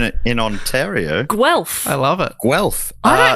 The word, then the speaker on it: Guelph: It is It is Guelph. Rhymes with Guelph. self. Guelph.